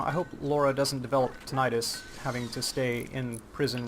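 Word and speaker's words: tinnitus: And for those of you who don't know it either tinitus or tonitis I pronounce it tonitis and it just means your ears are constantly ringing all the time.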